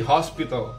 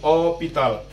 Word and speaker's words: hospital: Yang bikin beda, H ini spesial. H ini kita nggak sebutkan, kita nggak pronounce. Contohnya ada hospital. Hospital. Hospital. Bahasa Inggrisnya sih hospital, ya. Kita sebut H-nya. Tapi di mereka nggak nyebut H, jadi hospital.